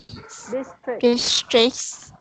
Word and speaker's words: districts: So the T is barely there, but you're still pronouncing the C. So it's making a K sound and then an S immediately after.